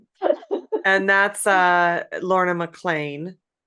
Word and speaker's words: McLean: want to um clarify how her last name is spelled. It's Laura and Mlan is M C L E A N. So, we would maybe pronounce it man here, but it's pronounced MLAN uh properly pronounced MLAN.